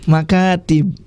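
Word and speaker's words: مكاتب: diulangi lagi secara bacanya maktab itu bentuk jamaknya maka tim kreatifnya bukan maka tetap ngada makatib ya Coba diulang lagi cara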